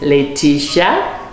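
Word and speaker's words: Leatitia: So she said, okay, my name is Letitia, pronounced Sha, but spelled L-E-A-T-I-T-I-A, and it means joy.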